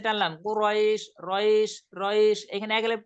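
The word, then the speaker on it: قريش: কুরাইশ, কুরাইশ রাইশ র, র এখানে র এ যেমন রয়, এখানে রটা উচ্চারণ করার সময় একটু এক আলিফ টেনে দিতে, কুরাইশ কুরাইশ।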